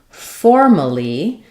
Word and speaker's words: formally: Versus in formally, now we don't have an and letter A is completely unstressed. It's just the schwa sound like formally, formally.